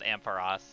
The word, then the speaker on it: Ampharos: It is officially pronounced Ampharos. I can say that with confidence. It's pronounced that way in the anime, both 4Kids dub and post 4Kids dub, and it's also pronounced that way in Pokédex 3D.